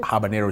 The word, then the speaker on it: habanero: here it's called habanero yes that's how you pronounce it habanero chili yeah habanero chili yeah in the office